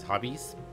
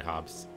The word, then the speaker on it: Hobbes: of calvinodobs the comic strip i used to pronounce these as hobbies they're totally hobbes and let's see lex that's not great but